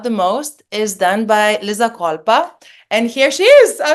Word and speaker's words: Liza Colpa: York um just let me check if I pronounce it correctly lizza kPa yes that is correct and also I I